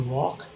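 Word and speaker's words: walk: देखिए LK को L silent है, तो L साइलेंट हो गया, K का बोलते हैं तो वॉक।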